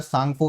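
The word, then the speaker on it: Tsangpo: तांगसवो या सांगपो भी बोला जाता है। इसको त्यांग त्या साइलेंट होता है इसके लिए सांगपो नदी बोला जाता है।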